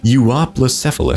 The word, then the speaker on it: Euoplocephalus: for but I guess you are plus F Allah that's how you pronounce it so don't ask how